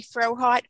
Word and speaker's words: Frohardt: a wonderful speaker uh her name is katie frohart katie am i pronouncing it your last name correctly that is